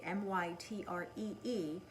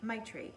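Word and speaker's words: Maitri: Sanskrit work Sanskrit word my tree ma I TR I it means Universal loving-kindness with the self and it's pronounced like my tree also in my tree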